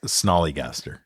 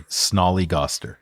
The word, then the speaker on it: snollygoster: piece of cake what's the name again word snig gaster SN oh sorry snollygoster snol I'll spell it out s n o l l y